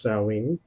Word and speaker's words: Samhain: during Halloween is salween it looks like Samhain when you look at it but it's pronounced sewing and so he always